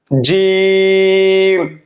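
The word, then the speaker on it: জীম: জিম হরফটি উচ্চারণ করার সময় জিহ্বার মধ্যখান উপরের তালুর সঙ্গে লাগিয়ে, জিহ্বার মধ্যখান উপরের তালুর সঙ্গে লাগিয়ে, আমরা যেহেতু নতুন, বোঝার সুবিধার্থে আপনি জিম উচ্চারণ করার সময় শেষের দিকে মুখ সামান্য হা করে রাখবেন, তাহলেই উচ্চারণটা সঠিক হবে এবং মাখরাজ অনুযায়ী হবে।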